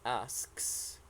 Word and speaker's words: asks: pronunciation of this one this is asks don't forget the sound at the end asks yes you're right really